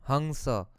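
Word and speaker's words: हंस: Hamsa. That's how it's supposed to be pronounced.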